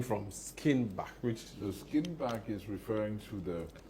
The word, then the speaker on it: Skinnebach: Did I pronounce that right? Yes, that's perfect. Is that where is that name from? Skinnebach.